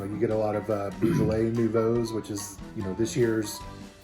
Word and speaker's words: Beaujolais: in a red wine a big fan of beausole Nouveau Beaujolais Nouveau while we're on in the business of pronouncing things correctly Nouveau so this is some